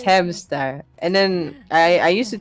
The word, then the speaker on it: Hamsktar: And then I was like, and then everybody kept saying Hamstar, Hamscar, and it was like the K is silent. The K is silent. Ah, And it's okay, okay. Hamstar.